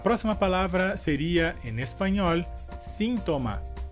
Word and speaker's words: síntoma: E a diferença seria que, em espanhol, a sílaba forte dessa palavra seria a primeira, sim. Nesse caso, porque temos a letra I com um acento.